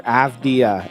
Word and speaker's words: Avdija: And their last key returning player is Denny Avdija, or Avdia as they pronounce it.